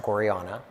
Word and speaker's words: gorjana: basically or women's jewelry um and yes it's pronounced gorana um but we were founded in 2004 in